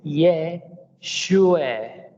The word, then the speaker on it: Yeshua: Por lo tanto, el nombre es Yeshua, Yeshua o Yahshua.